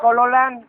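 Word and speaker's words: Cholollan: Chololán, se escribe Choloyán.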